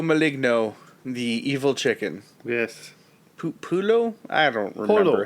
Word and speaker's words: pollo: horse and telling jokes and singing songs, beware Pollo Maligno, the evil chicken. Yes. Pulo? I don't remember how to pronounce.